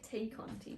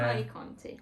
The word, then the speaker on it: Tay Conti: I keep wanting to say Tay Conti. Yeah. Ty Conti. This is the way it's spelled.